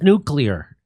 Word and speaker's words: nuclear: they have a nuclear weapon the word is nuclear yeah what a so people like him on on purpose mispronounce it The Sound folksy nuclear it's nuclear